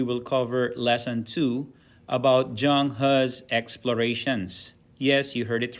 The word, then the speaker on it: Zheng He: and today we will cover lesson two about zhang has explorations yes you heard it right that's how this name is pronounced zhang ha or something close to that